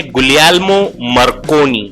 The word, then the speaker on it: Guglielmo Marconi: James clerk Maxwell, Heinrich hertz, गुलियल्मो मार्कोनी, sorry इसको बोलेंगे गुलियल्मो मार्कोनी, ये इटालियन थे।